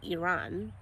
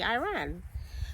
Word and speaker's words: Iran: duty in Iran and we say Iran in Ghana and Americans say Iran so he was assigned